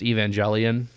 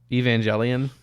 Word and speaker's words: Evangelion: Evangelion. Okay. How's it pronounced? I'm not even gonna glorify how? You. No, you don't deserve to know. Evangelion or there you go. Okay, close enough. Evangelion.